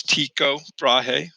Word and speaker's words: Tycho Brahe: Okay, but a Danish astronomer, Tycho Brahe, I know it's kind of weird how you say his name, but the pronunciation is Tycho Brahe, wanted to determine how the heavens were constructed